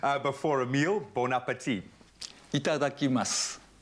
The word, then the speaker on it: Itadakimasu: Itadakimasu. Itadakimasu. So I notice when it's spelled with a U, masu, do you just say mas? You don't say the U? Yes. You kind of swallow the U.